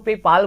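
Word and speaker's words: PayPal: फिर master card, फिर पेपैल या फिर गूगल पे। सो यहाँ पर आपके ऑप्शन होंगे पेपैल, काफी लोग इसको पेपाल बोलते हैं बच्चों, पेपैल इसका करेक्ट प्रोनाउंसिएशन होता है।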